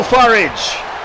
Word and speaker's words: Farage: Nigel Farage, to rhyme with garage, is entrant number 7.